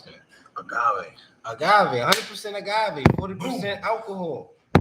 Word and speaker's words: agave: How you pronounce that? Agave.